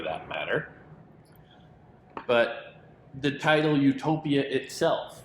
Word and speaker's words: Utopia: In English, pronunciation is exactly the same as the Greek word utopia with an E, which means good place, which conjures other kinds of images, a kind of Edenic paradise.